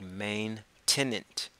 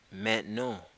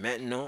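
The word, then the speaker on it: maintenant: T and a and T it looks like main tenant but you pronounce it Matt no met no so I said now listen Matt no I could say you know loads which is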